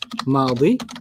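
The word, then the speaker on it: ماضي: Past is madi. Madi. Like Maddie.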